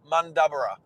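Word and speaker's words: Mundubbera: Let's see if I can say it right. Mundabera. Mundabera. Stepping forward. Mundabera. There you go. Mundabera. I said it like Maxie says it, without him having to school me again.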